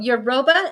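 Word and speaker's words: Yoruba: am I correct yes in euroba oh euroba euroba is that how you pronounce it yeah you can't just say n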